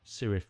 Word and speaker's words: Cirith: of the Rings although in the book it's pronounced kirth with a K but the band pronoun it s sirth with a C or